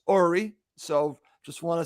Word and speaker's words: Uri: bye okay that was Yuri Ori and I did a Goldman there I said his name wrong Jackie as uh I say goodbye to him it's actually pronounced Ori so just want to